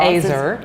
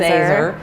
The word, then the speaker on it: Ezer: So how do we pronounce this word, first of all? Ezer. It's Ezer.